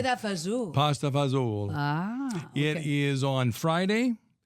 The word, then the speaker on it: fagioli: Pasta fagioli.